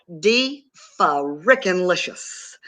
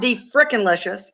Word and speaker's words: de-fa-rickin-licious: It's de-fa-rickin-licious. And de-fa-rickin-licious. So it's not de-frickin-licious, and it's not de-freaking-licious. It's de-fa-rickin-licious. Okay.